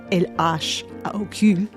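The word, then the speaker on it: L.H.O.O.Q.: When you pronounce those letters in French, LHOOQ, it sounds like a phrase meaning, she has a hot ass.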